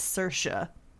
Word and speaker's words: Saoirse: source II Ronan I I had to look up how to pronounce her name its Saoirse Saoirse ya know I always called my easier I was saying it right Ronan no apparently it's Saoirse I don't know what